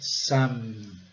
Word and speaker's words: some: Aqui, né, a palavra muito utilizada no inglês, some, pronúncia clássica, é silencioso, e some, caracterizando bem forte o M, some.